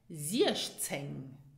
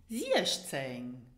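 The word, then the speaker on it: siechzéng: And then it is followed by the letter Z, which is pronounced ts. And so we have zieszceng. Repeat after me, zieszceng.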